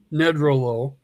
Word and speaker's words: Nedrelo: But it comes from A. Nedrelo. Nedrelo. Rhymes with hello.